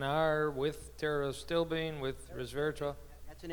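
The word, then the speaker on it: pterostilbene: as n are with terrorists still being with Rivera that's an interesting thing Tara still and it's spelled with a P begins with a P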